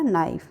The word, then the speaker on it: knife: KNIFE के को हम साइलेंट कर देते हैं, तो क्या हो जाएगा हमारा नाइफ। फिर आ जाएगा साइकोलॉजी में P हमारा साइलेंट होगा।